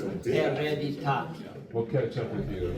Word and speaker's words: hereditati: But it's not followed by a vowel, so it's hereditati. But it's, so therefore it's hereditati. And we don't pronounce any of the H's, so it's, that word is hereditati.